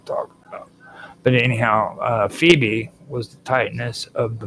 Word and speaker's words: Phoebe: Now, this one I always call phobe and I know that it's wrong, but it's Phoebe.